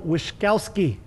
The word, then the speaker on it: Wishkovsky: Joel Wishkovsky.